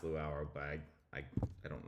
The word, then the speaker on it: Luau: This is uh and I I think this is pronounced Luau, but I I I don't know how to uh read this stuff. Uh, but I think it's pronounced like the the Hawaiian Luau.